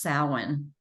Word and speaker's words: Samhain: It's spelled Samhain. uh-huh. It's pronounced Samhain.